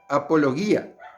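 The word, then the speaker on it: ἀπολογία: que hay en vosotros la palabra en griego para para expresar defensa en griego se pronuncia apología y es apologética la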